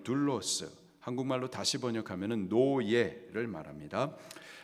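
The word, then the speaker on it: δοῦλος: 하고 거슬러 말하지 말며 종 헬라식 발음으로는 둘로스 한국말로 다시 번역하면 노예를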